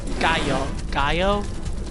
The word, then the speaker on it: Gallo: Gallo? Is that how we pronounce that? Because it's got the two L's, so it's like a yes sound.